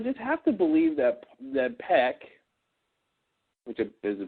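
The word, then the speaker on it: Paik: I just have to believe that Peck, which is the pronunciation apparently yes, is that he would have to know this money would get confiscated at Customs.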